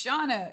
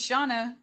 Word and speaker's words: Shana: thank you for asking it's shawna yeah am i hearing it wrong it's shauna that's what they're saying okay okay thank you